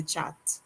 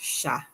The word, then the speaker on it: chat: watching that word and wondering why bev asking me about the chat instead of sha it is pronounced sha all right beautiful let